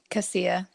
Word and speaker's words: Casilla: let's do it it's how do you say it again Casilla it's a high C oh that makes sense